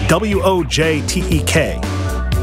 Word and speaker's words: Wojtek: I believe it's pronounced Wojtek. It's W-O-J-T-E-K. And that sounds Polish, and I kind of know some of the rules of Polish pronunciation.